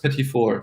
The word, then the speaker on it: petit four: Pronounced petit four. Yeah, it's like little four.